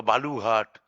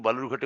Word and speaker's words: বালুরঘাট: সবথেকে বেশি ভোট পড়েছে বালুরঘাটে 72 শতাংশ সেই বালুরঘাট যাকে বিজেপি সাধারণত বেলুরঘাট বা বালুঘাট ইত্যাদি ভুল উচ্চারণে ডাকতে যাকে সিদ্ধস্ত এবং ওটাই ওই উচ্চারণটাকেই খুব সংগত বলে মনে করে বালুরঘাট আজকে উত্তর দিয়ে